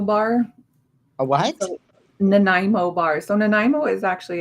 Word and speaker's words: Nanaimo: The owner stuttered, right? When he made the Nanaimo. first one. Yes. I'd like to make a Nanaimo. You mean Nanaimo? Yeah, that's what he said.